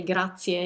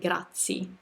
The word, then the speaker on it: grazie: character and so um the way i would expect a typical italian to say grazia is to really hear every single letter in the world he almost stopped at grazie almost making that a silent but i think